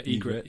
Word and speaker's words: Ygritte: Ygritte. Is that her name? Yeah, Ygritte. Yeah. Ygritte. It's spelled with a Y, though.